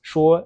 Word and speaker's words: 说: So yeah, I would say 99% of the time, this character is going to be pronounced sure and has one of those first 5 meanings.